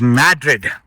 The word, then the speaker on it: Madrid: The way they pronounce it is Madrid.